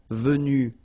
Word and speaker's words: vue: same thing here Vue you don't pronounce a s so phonetically you only have one way to pronounce it but remember if you